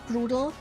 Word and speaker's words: brutal: It's just German pronunciation of brutal. You just roll the R and have a hard T.